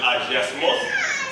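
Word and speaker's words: hagiasmos: Il y a mon prononcé agiasmos, c'est H-A-G-I-A-S-M-O-S, qui signifie séparation, mise à part.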